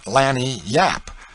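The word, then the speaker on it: lagniappe: A nice limber, expressive, handy word, lanyap. They pronounce it Lanni yap.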